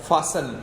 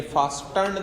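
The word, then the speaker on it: fasten: फासन, ये बेटा टी इसमें साइलेंट है, ये फास्टर्न नहीं आएगा, फासन आएगा।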